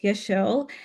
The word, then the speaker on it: Yeselle: telling people that um when you see my face, just think of a shell and be like, "Yeah, shell." It's just an easy way to I guess say my name.